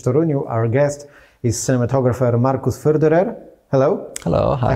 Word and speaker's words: Markus Förderer: Our guest is cinematographer Markus Förderer. Hello. Hello. Hi. I hope you pronounced your name right. Very good. You're the first one who got it right.